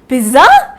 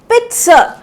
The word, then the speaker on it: pizza: इसका प्रोनाउंसिएशन है पिट्सा, पिट्सा। सो ना ही यहाँ पे ज है और ना ही यहाँ पे ज है, हम लोग क्या बोलेंगे? पिट्सा।